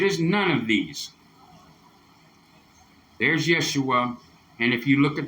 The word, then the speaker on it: Yeshua: Yeshua it is not yua it is not yahushua it is none of these there's Yeshua and if you look at the pronunciation where it says pronunciation right there it